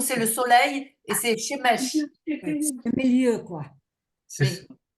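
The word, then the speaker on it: שמש: Ça se prononce Shemesh. Shemesh. Mesh, à la fin, c'est comme un che.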